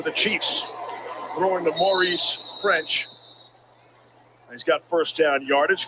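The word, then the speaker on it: Ffrench: Anthony Gordon for the Chiefs, throwing to Maurice French. He's got first down yardage, fourth quarterback of the night for Kansas City. And that's not a typo. The first F or the second F is silent.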